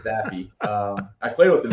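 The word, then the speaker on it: Daffue: I'll go to um MJ Daffy dafu whatever you want to pronounce it I'm pretty sure it's Daffy um I played with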